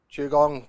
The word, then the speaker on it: Qigong: how does it work Chong pronounced Chong was developed in China